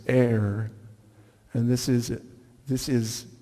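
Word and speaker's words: עיר: Watchers is translated from the Hebrew which is pronounced air and this is this is the actual Hebrew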